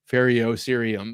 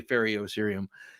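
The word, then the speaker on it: ferrocerium: you pharoh syum uh the E after the r is silent I believe okay okay feros serium right I got you you wouldn't say fio serium feros serium all right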